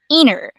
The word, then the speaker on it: interviews: this one it's um actually inner so the T sound will be omitted okay so you will